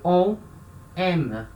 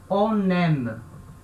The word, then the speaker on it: on aime: A gente não fala isso aqui on aime. A gente não fala separado. A gente junta a consoante N com a vogal A, certo? Com o som de N. Então a gente fala on aime.